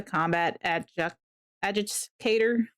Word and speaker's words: combat adjudicator: Yeah, no, that's the combat adjudicator. Yes, that's how you pronounce it.